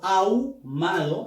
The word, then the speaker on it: ahumado: con la pronunciación y la H no suena. Por lo tanto, ahumado es el ejemplo de un diptongo. ¿Qué diptongo sería?